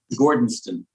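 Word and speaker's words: Gordonstoun: experience there um I I how do you pronounce the name of this place gordonston yes and the colditz castle right well Colton's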